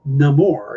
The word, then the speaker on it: Namor: with the Aztec culture, in that culture, that spelling and that pronouncing would be Namor, and that's why they're supposed to be doing it.